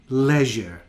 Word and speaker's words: leisure: and then we have an e i spelling in leisure most of the words